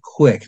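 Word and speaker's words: Qwiic: connectors on the Edge which are called quick that's spelled qwi i i c I can't help that but that's what they spell it but it's a um an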